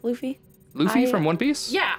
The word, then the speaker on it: Luffy: think they would appreciate it luffy right it's pronounced luffy luffy from one piece yeah i read some